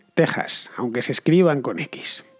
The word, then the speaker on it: Texas: sacada del equis pero la pronunciación es con jota así que ya sabéis en español se dice méxico y se dice texas aunque se escriban con